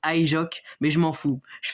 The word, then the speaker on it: HyJox: Oui, je sais que ça se prononce Ijok, mais je m'en fous.